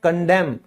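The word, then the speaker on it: condemn: निंदा करना, बुराई करना उसे हम इंग्लिश में कहते हैं कंडेम। ठीक है? यहां भी एन साइलेंट है।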